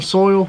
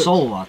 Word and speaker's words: Seoul: couldn't do it but this is live in soil is that how you say it soul soul um so these should be perfectly fine